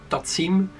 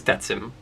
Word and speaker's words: Tatsym: Tatsym, like Lithium famously called it. Tatsym, but the correct pronunciation of how I would like my channel to be referred to is Tatsym.